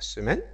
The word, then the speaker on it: semaine: consonne comme ça la semaine la semaine donc le E ici ne se prononce pas d'accord c'est pareil pour